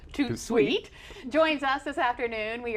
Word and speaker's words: Tout de Suite: Yeah, Tout Sweet, pronounced Tout Sweet, joins us this afternoon.